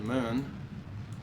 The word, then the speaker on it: Mun: So that's my target right there, the moon. It's spelled M-U-N, U as in umlaut.